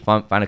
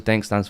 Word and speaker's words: Daink: Daink, what does Daink stand for me? Daink in French means crazy. Daink, it means dunk. Dunk, it's spelled like that.